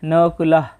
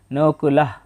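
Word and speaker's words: নকুলঃ: প্রথমে দেখতে দেখতে পাচ্ছি নকুলাহ বাংলা উচ্চারণের মতোই তবে শব্দের শেষে বিসর্গ থাকলে অর্ধেক হ এর মত উচ্চারণ হয় নকুলাহ এরপর আছে সহ দেবস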